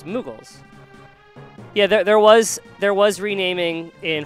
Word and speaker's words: Moogles: But she called them Moggles. Yeah. And I guess because, you know, Mog is how you say the name, but she saw it was Moggles. But there's two O's, so it's Moogles.